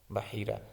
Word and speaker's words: بحیرہ: یہ جو ہے بحیرہ، اس کو آپ ایک دفعہ جو ہے اس کا تلفظ کا درست کر لیجئے گا کہ بحیرہ قرآن پاک میں جو ہے ما جعل اللہ من بحیرۃ زبر کے ساتھ ہے بحیرہ۔ اور آپ صلی اللہ